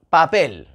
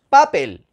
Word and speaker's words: papel: que no llevan tilde papel papel cuál es la sílaba tónica la última papel porque porque no decimos papel es que incluso la